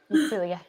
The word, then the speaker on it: Celia: Am I pronouncing your name right? Celia.